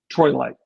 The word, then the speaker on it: troilite: Okay, so he's assuming because the trol trilite, how do you say that? Troilite. Troilite, that it normally rejects lead, but he's not taking into account all of these things that you're saying.